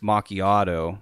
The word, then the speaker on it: macchiato: And it's an apple crisp macchiato, and I just asked for it blended.